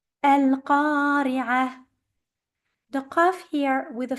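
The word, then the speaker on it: القارعة: The last letter of the verse is a tamarbuta. When you stop on a tamarbuta, it has to be changed into a ha or a h in English if you prefer, and it has to be a very soft ha.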